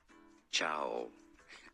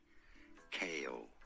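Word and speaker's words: Chaol: in Throne of Glass Chow I'm just kidding kale is how you say Kale like the vegetable that was not that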